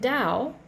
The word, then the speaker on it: Tao: a taoist concept so when you are in dao that's spelled t-a-o if you want to look up taoism t-a-o-i-s-m when you are in dow you're in balance that's